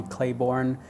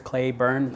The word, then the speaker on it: Clayburn: and everybody call Clay people Mis mispronounce it they'll call me Clayborne they misspell it a lot people try to overthink it I mean it's just two four-letter words clay burn should be very simple but it's always like